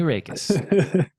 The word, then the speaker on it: Raekes: are actually knowing how to say it reikis um and I saw your email has